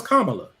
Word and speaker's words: Kamala: Kamala, because y'all get real funny about her name is. No, her name is Kamala.